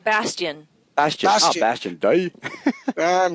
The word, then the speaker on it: Bastion: Bastiman? Bastion.